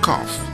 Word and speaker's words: cough: result in different pronunciations the letter combination G H acts as the letter F therefore G oh you G H is tough and see oh you G H is cough the letter combination CH